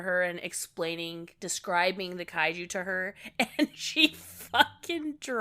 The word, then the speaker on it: kaiju: do love the way she says kaiju well I was just going to complain about that so I think she's I think she's Hispanic so she's pronouncing it Caillou Caillou Caillou Jesus the Caillou.